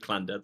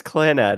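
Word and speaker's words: Clannad: No, it's dad of clans. No, it's clanad. I was pronouncing it bad, too, because I was trying to be funny, but you took it seriously.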